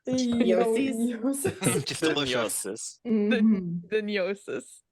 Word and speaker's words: Gnosis: My pet project is to get people to pronounce the GN in Gnosis like the GN in Yoki. Gnosis. Yosis.